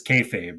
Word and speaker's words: kayfabe: It's mostly just names, so at least he says kayfabe right. Kafab. It's like, is he saying kayfabe or is he saying?